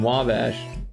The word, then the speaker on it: Wabash: I'm on Wabbish. Like what? Wabbish. Like wobbash, but Wabbish. Oh, you mean Wabash.